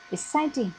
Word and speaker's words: exciting: Exciting, trọng âm nằm ở vần thứ hai.